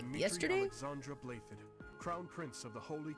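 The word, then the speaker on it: Blaiddyd: Alexandra Blathid, Crown Prince of the Holy Kingdom of Fargus. Someone explained to me how you get Blathid out of the way that it's spelled.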